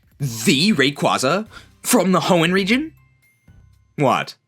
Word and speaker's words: Rayquaza: I believe the correct pronunciation is Rayquaza, but nobody says that. Are are we talking about like the Rayquaza from the Hoen region?